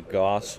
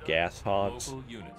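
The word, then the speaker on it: Gauss Hog: local units or I'm sorry did I say gos I meant to say gas Hogs that's the actual pronunciation ation for them local local now me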